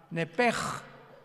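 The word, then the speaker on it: נפש: Pero la sh en hebreo se pronuncia como J. Entonces se pronuncia nep como el francés, ¿verdad? Que es gutural. Nepej.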